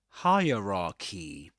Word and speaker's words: hierarchy: You you've that's hierarchy. hierarchy. And the hack here, the trick is to pretend that the first syllable, the first part is higher.